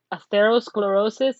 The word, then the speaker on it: atherosclerosis: an increased risk for heart disease and stroke atherosclerosis i'll repeat that again so you know how to pronounce it atherosclerosis is plaque buildup in the artery walls and